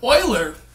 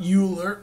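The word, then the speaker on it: Euler: moving on oh jeez Oiler Oiler Oiler everyone pronounce his name wrong right um including me I'm I'm a dog's kid that's fine so Oiler not youer Oiler is a fascinating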